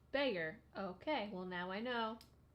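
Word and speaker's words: Bexar: don't even like soda Baxter County in Texas is pronounced beggar okay well now I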